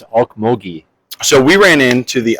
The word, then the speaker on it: Okmulgee: I think it's Okmulgee.